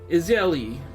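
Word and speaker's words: Ysayle: yes pray trust me as israeli israeli israeli i think that's how you remember how to say her name is ali if you wish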